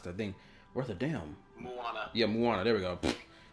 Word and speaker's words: Moana: Oh, Mulana. Mulana. Oh, man. I can't pronounce that thing. Worth a damn Moana.